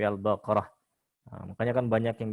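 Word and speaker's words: البقرة: Seperti misalkan Al-Fatihah bukan Al-Fatihatun, Al-Baqaratun tapi Al-Baqarah.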